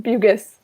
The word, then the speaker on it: Bugis: It's pronounced Bugis. Bugis.